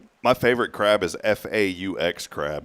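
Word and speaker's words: Phở: My favorite crab is f aux crab. It's really good. Say it. Faux crab. Faux. Faux crab. F. Faux crab. Faux. That means that means it's fake, right?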